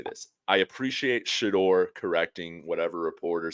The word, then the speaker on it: Shedeur: Anybody who's covering this team, it is Shedeur, not Shedeur. There are people that say "dur," and it's not like a Southern twang. I'm not saying that. It's like Shedeur Sanders. It sounds nerdy. No, Shedeur. Shedeur. Say it right, please. Good Lord, say this man's name correctly.